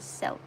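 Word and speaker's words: Selke: And Halcyon is Selk. So like silk, but with a more E sound, I guess. An S, Selk. And the E at the end of Selk is silent.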